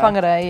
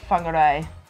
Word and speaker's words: Whangarei: are going to but I don't want to pronounce it wrong so you guys whangarei yeah um we're going to whangarei yeah that was good we'll go with that